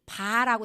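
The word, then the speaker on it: 八: 팔이 뭐라고 하는 거냐면 여러분이 중국 사람들의 발음이이 팔이 바라고 시작해. 바. 팔이 바예요.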